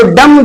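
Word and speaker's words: dumb: ऐसे ही डम्ब आता है तो डम्ब जो है ये रूल के अकॉर्डिंग हमारा बी जो है साइलेंट हो जाएगा, एम के बाद में भी आया है इसलिए डम्ब बोलेंगे, डम्ब बोलेंगे।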